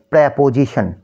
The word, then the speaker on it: preposition: একটা হচ্ছে pray plus এটা ইন্ডিভিজুয়াল উচ্চারণ করলে কিন্তু প্রি হয়ে যায়। সো বাট একসাথে যখন আমরা উচ্চারণ করব একসাথে যখন প্রনাউন্স করব তখন কি হয়ে যাবে? প্রেপোজিশন।